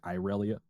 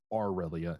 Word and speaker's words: Aurelia: Sorry, I should be pronouncing her name properly because it sounds like Irelia, but it's Aurelia.